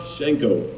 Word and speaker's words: Shiancoe: Oh, by the way, we want to let the people know the correct pronunciation of your name is, so everyone knows. Visanthe Shiancoe. No E, silent E, Visanthe Shiancoe.